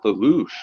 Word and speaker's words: Lelouch: Yeah, Yeah, it's Lelouch, right? That's how you pronounce his name?